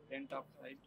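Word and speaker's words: pentoxide: ট্রাই এটা কি ছিল পেন্টা পেন্টা বলে না এটাকে বলে পেন্টক্সাইড আর এটা হচ্ছে হেপটাঅক্সাইড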